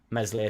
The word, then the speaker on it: Meslier: I think he thought Meslier Silent S would have been moved on at the time, who has now been moved on, or contracts run out and he's going.